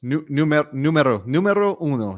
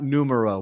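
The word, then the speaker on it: número uno: Oh man, you just have to think about the vowels. Numero uno, not numero.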